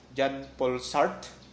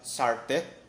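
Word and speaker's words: Jean-Paul Sartre: You please listen to the pronunciation and the spelling because these are foreign words which we will have to pronounce it as in their place. Jean Paul Sartre. Baka meron nagsasabi naman dyan na Sartre. Pero mali po yan.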